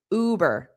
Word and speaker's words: Uber: Notice the pronunciation is that long oo. Uber.